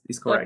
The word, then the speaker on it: Corre: Um, and the song Corre, is correct? Corre. How Hmm. my pronunciation?